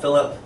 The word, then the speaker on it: Philip: say, "Fill her up, Philip." I never understood this joke. The second syllable in my name, if said in English, should be pronounced like the I in icky, not the U in up.